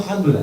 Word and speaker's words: Jándula: Y entonces me vino Jándula, dije, tenemos un nombre en Jaén muy bonito, que es esdrújulo, y que significa gracia a Dios, Jándula, que suena...